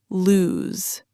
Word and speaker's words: lose: Pronounced lose. Notice the Z sound at the end, not an S sound.